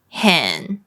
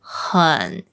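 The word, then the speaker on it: 很: ä ä xi e How do you usually pronounce this? It's hěn. hěn Many learners would say hěn. hěn But it's actually hěn, an uh sound.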